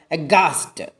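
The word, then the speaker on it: aghast: അതുപോലെ അഗാസ്റ്റ്, ഗോസ്റ്റിൽ ഹ sound silent ആണ്. അഗാസ്റ്റിൽ ഹ sound silent ആണ്.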